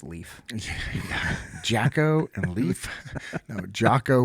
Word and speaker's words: Leif: I believe it's pronounced Leaf.